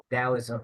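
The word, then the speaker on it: Taoism: he said it was Dowoism. And for those of you who don't know what Dowism I I you I pronounce it with a D but it's spelled with a T. And talism is uh a sister to Buddhism.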